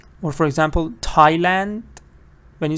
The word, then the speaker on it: Thailand: see th but you don't say Thomas you say Thomas exactly like what do you see th but you don't say Thailand you say Thailand Thailand so you have to